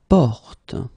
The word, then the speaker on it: porte: Porte. So you get this O, and it's actually quite open in that case. It's O, porte, okay?